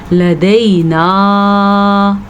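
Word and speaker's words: لَدَيْنَا: ان لدینا انکالا وجحیما، اس میں خاص چیزیں جو ہیں، ایک تو نون کے غنے کا آپ نے خیال رکھنا ہے، ان غنہ کرنا ہے. لدینا مد ادا کرنی ہے اور 4 الف کے برابر ادا کرنی ہے.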